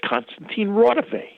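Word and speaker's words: Konstantin Raudive: And I thought, wait a minute, he was mispronouncing it. That's Konstantin Rodovay, the famous EVP, electronic voice communications scientist who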